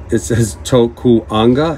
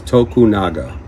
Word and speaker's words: Tokunaga: Now this tag has the name wrong. It says Tokuanga. His name is Tokunaga, and that is the actual name of this dendrobium.